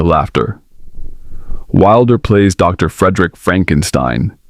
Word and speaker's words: Frankenstein: Frederick Frankenstein. It's pronounced Frankenstein, a descendant of the infamous Victor.